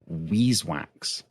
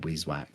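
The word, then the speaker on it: Vis wax: introduced to um I I've been advised it's pronounced Weese wax yeah that's what mod stew has put on the record for saying that despite everybody's saying viz for all these years what's dude did explore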